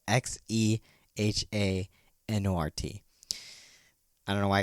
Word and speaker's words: Xehanort: zainer is a weird name it's really spelled x-e-h-a-n-o-r-t i don't know why i gotta explain it